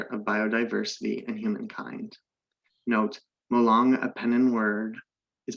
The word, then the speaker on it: Molong: Note, Molong, a Penan word, is pronounced Molong with stress on the second syllable.